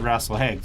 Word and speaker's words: Rasalhague: Well, he said RASALHAGUE, so that's how he pronounced New it.